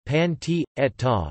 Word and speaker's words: Pancetta: Pancetta, Italian pronunciation, pan t'etta, is an Italian bacon made of pork belly